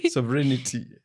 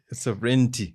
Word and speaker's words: sovereignty: Somebody had to teach me how to pronounce the word sovereignity. Sovereignty no sovereignty is so it's a